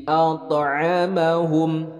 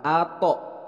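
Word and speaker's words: أَطْعَمَهُم: Nah, bukan ato, tapi to-nya ada pantulan.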